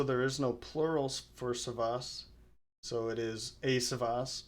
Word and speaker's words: Savvas: play and you pronounced it correctly it is pronounced savas also there is no plural for savas so it is a savas or many savas